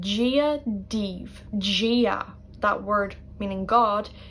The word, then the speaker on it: Dia: Gia, that word meaning God. D-I-A, I would say Gia, like a J sound at the start.